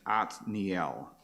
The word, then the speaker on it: Othniel: Lion of God and the Hebrew pronunciation is atniel so they don't have a th sound there like we do othniel so I'm going to